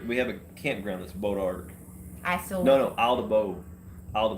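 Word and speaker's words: bois d'arc: So Bodiark, is that Bodark? Bodark. I am so sorry. Why is the D like that? Like it's pronounced. It's a French word.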